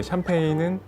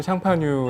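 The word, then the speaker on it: Champagne: 스파클링 와인 이라고 하면 워낙에 샴페인은 이제 그 프랑스 샹파뉴 에 이제 영어식 발음 이구요 4 보통 일반적으로 스파클링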